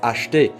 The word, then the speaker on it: acheter: We don't speak that slowly, so acheter is never going to be pronounced acheter, it's always going to be pronounced acheter.